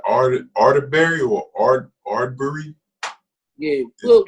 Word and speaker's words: Arbery: It's like Arterbury or Ardbury. Yeah. Arbery, but his first name is Ahmaud.